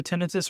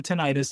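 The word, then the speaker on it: tinnitus: Um, so Diane, just to answer, um, tenitus, you'll hear tenitus or tenitis. They're both accepted pronunciations. Um, by the tenitus association, um, just depends on who you ask.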